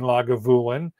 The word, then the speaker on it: Lagavulin: lagavulin and he says emphasis on the vu in lagavulin so we will have